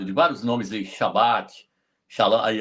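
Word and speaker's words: שלום: A palavra shalã. Shalom. Aí na verdade é shalã.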